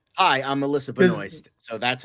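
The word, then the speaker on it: Benoist: There's actually an S in there before the T.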